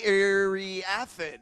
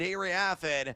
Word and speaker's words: Iriafen: Kiki Iriafen, I believe is how you pronounce the last name.